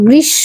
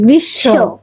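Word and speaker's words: গ্রীষ্ম: এটা কে ম লিখছো তো কিন্তু তুমি বলো গৃশ্য উচ্চারণটা হবে গৃশ্য তাহলে বৈশাখ বৈশাখ ও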